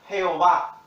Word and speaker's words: Jehová: En inglés se pronuncia Jehová.